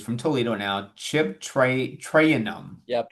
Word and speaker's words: Trayanum: Ohio State, is from Toledo now, Chip Tray- Trayanum. Yep, Traynum. He Traynum.